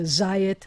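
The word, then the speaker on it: זית: wine i say yayan and an olive is a zayat and they all have this exact vowel pattern with this ah and then a yud and a this e and so um and the letter which means i um so all those words that have that pattern are going to and the accent's going to be on the ah and then the all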